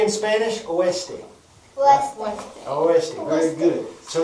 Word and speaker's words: oeste: Oeste.